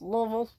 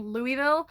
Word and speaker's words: Louisville: Louisville, Kentucky, and yes, you're supposed to say it like you have a mouthful of marbles, Louisville. I made the mistake of saying Louisville when I first got